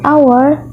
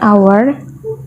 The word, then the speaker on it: hour: For example, an apple, an actor, an hour, an orange, an idea. Nah, sama seperti artikel tadi, an hour, kenapa di sini menggunakan artikel an dan bukan